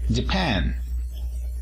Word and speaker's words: Japan: Japón, decimos Japan. El acento se encuentra en la segunda sílaba.